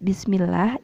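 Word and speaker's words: بسم الله: Nah, lafaz Bismillah itu lahnya itu panjangnya 1 ayunan, tidak lebih dari 1 ayunan. Contohnya Bismillahirrahmanirrahim, bukan Bismillahirrahmanirrahim. Jadi lafaz bismillah yang benar adalah Bismillahirrahmanirrahim.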